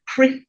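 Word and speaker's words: CCRIF: What we have here with these 2 organizations, so the first one being CRIF, as I pronounce it, so that's the Caribbean Catastrophe Risk Insurance Facility.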